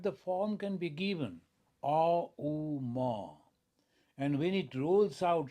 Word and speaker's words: Om: So Auma, Om, which is we pronounce as Om sometimes, that is also known as Brahman.